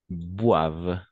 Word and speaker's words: boivent: beaucoup et les adultes boivent tout simplement d'accord mange et boivent parce que ent à la fin on le prononce jamais la seule chose parce